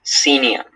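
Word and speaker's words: senium: Yes, scenium.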